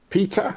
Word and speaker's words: PETA: Animal rights group Peter or Peta, depending on how you want to pronounce it, calls for Peter calls for Nintendo to remove the cow's cruel nose ring.